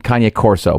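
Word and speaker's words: Cane Corso: It look it's written Kane Corso, but it's pronounced Kane or Kanye. Kanye Corso.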